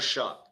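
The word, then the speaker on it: Shough: Is it Stroud? Shrewd? Tyler Shrewd? Tyler Shuck. Shuck. I always say it wrong. It's spelled funny. That one's spelled funny though. That's my defense.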